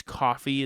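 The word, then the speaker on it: Ko-fi: I think it's coffee is how it's said.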